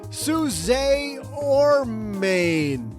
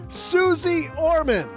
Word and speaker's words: Suze Orman: welcome to the basement Suz or Main. What? What do you mean that's not how you pronounce it? Oh, uh, Suzy. Okay, got it. Got it. As I was saying, Suzy Orman.